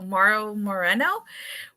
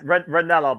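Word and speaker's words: Ranallo: As I was listening to what you guys are talking about, Mauro Moreno from our NXT, damn it. But you digress. Ranello, by the way.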